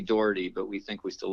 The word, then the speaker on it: Daugherty: yes exactly it's it's it's phonetically dirty but we think we